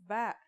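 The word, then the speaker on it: ب: in this lesson don't our first letter of this lesson is ba and yeah it makes a b sound you can remember this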